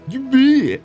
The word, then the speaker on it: Ymir: Your hometown is in Ymir, correct? Sorry, Ymir. That's how I pronounce it.